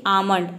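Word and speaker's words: almond: है हथेली next is आमंड आमंड का मतलब होता है बादाम यहां पे भी देखिए ए के बाद एल आया है लेकिन यहां पे एल को हम प्रोनाउंस नहीं कर रहे हैं एल एम देख सकते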